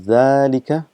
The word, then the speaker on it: ذلك: So again just reminding you that it is pronounced as ذَلِكَ, but this alif is omitted because of constant usage and it's written as ذَلِكَ, but it's still written the same pronunciation of ذَلِكَ.